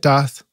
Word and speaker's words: Daath: And am I pronouncing it right, Daath?